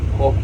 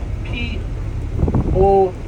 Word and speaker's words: poke: that word though okay it's spelled p o k e but it's pronounced p o h k a y if you're talking to